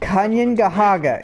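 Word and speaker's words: Kanien'kehá:ka: Kayen-Kahaka is how it's pronounced.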